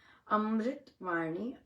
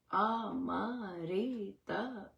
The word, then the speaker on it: अमृत: वो है अमृत अमृत अमरत नहीं कहां लिखा है अमरत कहां लिखा है अमृत अमृत अमृत म आधा है अमृत अमृत सो अमृत